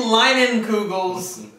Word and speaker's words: Leinenkugel's: That's how you pronounce it. This is the Leinenkugel's Canoe Paddler.